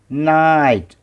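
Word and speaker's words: knight: क्या बताया था मैंने, जब भी जी एच एक साथ आते हैं किसी शब्द में तो जी की आवाज़ नहीं होती, जी साइलेंस होता है। तो इस शब्द में हमारा के साइलेंस है, जी साइलेंस है। पढ़ेंगे एन आई एच टी, नाइट, नाइट, नाइट, नाइट, एकदम हल्की सी एच ह की आवाज़ है, नाइट।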